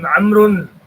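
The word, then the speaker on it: عمرو: The proper name Amrun. So we learned Umar. Now it is Amrun. It is written with a vav, which is not pronounced.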